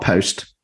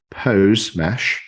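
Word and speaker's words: Posemesh: again so alkylabs is creating a hose mesh not post pose mesh or did I pronounce that right yeah that's right decentralized decentralized protocol for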